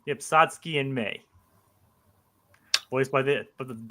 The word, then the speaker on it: Satsuki: Okay, Satsuki. Satsuki. Well, I keep hearing K, Jacob, in the movie. Are you sure It's Satsuki. It ends in Ki.